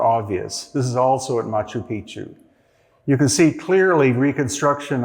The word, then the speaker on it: Machu Picchu: So, here you see this is Machu Picchu and that's the correct pronunciation. Most people call it Machu Picchu. But when you say Machu Picchu, that means ancient penis in the Inca language. Machu Picchu means ancient mountain.